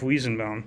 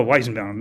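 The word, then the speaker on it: Weizenbaum: that was created by at MIT by Joseph ween bound we're now in like the mid-60s this was like late 50s early 60s okay um this guy named uh Joseph Wiis oh why is bound I'm been mispronouncing it um he created a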